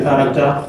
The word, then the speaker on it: character: Okay, so let me write the character. Yes, character, the seed, the sand, character. Yes, so this H. Yes. Because we are saying car.